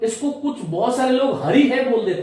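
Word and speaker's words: हरिः: अतः अस्य विसर्गस्य उच्चारणम कथम कर्तव्यम, विसर्ग का उच्चारण हमें कैसे करना चाहिए, इसके लिए मैं आपको बता रहा हूं कि रामः हरिहि गुरुहु।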